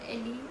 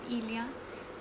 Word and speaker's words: Elya: I'm not Ellie, I am Ilya.